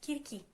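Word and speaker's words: Κίρκη: Like, why am I using that pronunciation while I can use the actual pronunciation, which is Kirki?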